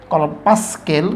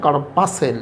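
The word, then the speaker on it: corpuscle: কর্পাসকেল কিন্তু উচ্চারণটা হবে কর্পাসেল, লিখতে গেলে পাসকেল পিইউএসসিএল।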